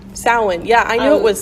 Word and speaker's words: Samhain: So how do you pronounce it? It's Samhain, Samhain.